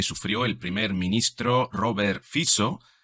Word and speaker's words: Fico: el Primer Ministro Robert fizo ojo se escribe fico pero se pronuncia fizo y que ha tenido